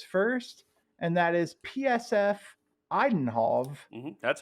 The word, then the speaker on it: Eindhoven: I will give out his first, and that is PSF Eindhoven That's how it's pronounced.